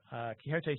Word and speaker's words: Quixote: pronouncing that correctly yes it's Quixote like Don Quixote and my name is